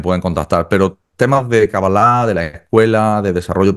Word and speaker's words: Cábala: no me decías bueno se puede pronunciar cala cabalá cabala lo he escuchado de todo en hebreo original Es cabalá cabalá okay Y bueno creador